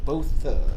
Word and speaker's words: Botha: Botha.